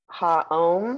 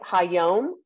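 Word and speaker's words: היום: Ha'om. Is that right? Hayom.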